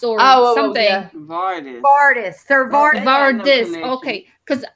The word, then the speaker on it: Vardis: the household guard at the Vale named Sir Varys or something. Yeah. Vardis. Sir Vardis. Vardis. Okay. Because I didn't know how it's spelled since I don't have the actual book.